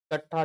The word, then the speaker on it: कट्ठा: इकट्ठा जो लिखे हैं हम, कट्टा तो नहीं होता है। अगर आप लोग अगर उच्चारण सही से अगर हो गया, आप लोग आसानी से इसको जो है ना समझ सकते हैं। जैसे इकट्ठा होता है, जैसे हमको उच्चारण हो